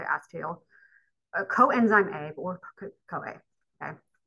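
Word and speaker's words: acetyl: two carbon something called acetal or acetal however you want to pronounce but I always heard people say acetel coenzyme a or COA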